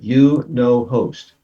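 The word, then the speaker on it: YunoHost: name it sounds like it sounds like you no host it's spelled the letter y the letter U and then no o h o s t haven't heard that one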